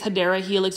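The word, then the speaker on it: Hedera helix: going to see this HRA helix or the correct way to say it is hadera Helix there's a lot of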